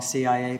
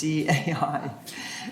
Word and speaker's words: CAI: And there's also a great CAI, I always say it wrong, CIA, but it's CAI.